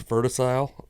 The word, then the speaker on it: Verticile: It's like vertical but it's verticile. So instead of cle it's c i l e. Yeah. So I think it's verticile.